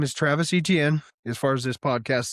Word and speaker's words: Etienne: It's Travis Etienne. If it's your first year coming in the league, you can say, my name's actually pronounced this way. People don't know you, but you can't be on your second contract and then say, my name is Achan, one of the best